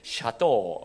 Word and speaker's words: 샤또: 되면 제 이방인 거구요 그 사또가 아니고 샤또 어요 커브 발음을 잘 하셔야 됩니다 그 5d 에 세계